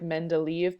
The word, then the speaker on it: Mendeleev: So this guy over here, his name looks like Mendeleev, but it's pronounced Mendeleev.